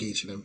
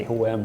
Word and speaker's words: H&M: Like the letter H in Swedish is H, and the letter M in Swedish is M. H-M.